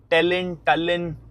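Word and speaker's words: Tallinn: टलिन क्या इसकी pronunciation है वो एक बार मेरे को देखनी पड़ेगी। वैसे टेलिन बोलते हैं इसको, टेलिन the capital of Estonia में।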